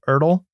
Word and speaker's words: Ertl: and I picked up, I think it's pronounced Ertl. So it's ERTL.